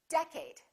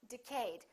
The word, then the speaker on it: decade: you say decade or did you say decade is it first syllable or second syllable well it's the first one it's decade repeat in the next decade a lot of people make a mistake and they say decade let's take a look